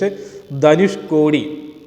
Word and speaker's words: Dhanushkodi: Don't forget the name and pronunciation is Dhanushkodi. That's Tamil word. Dhanushkodi and Rameshwaram.